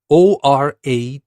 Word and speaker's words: oration: this particular subject and by the way literate is spelled l-i-t-e-r-a-t-e literate and now let's move to our next word oration o-r-a-t-i-o-n oration now in the story we said the